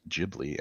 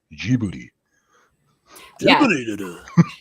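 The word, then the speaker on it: Ghibli: it it said uh in English they pronounce it jibli and in Japanese they pronounce it jib boy yeah so I could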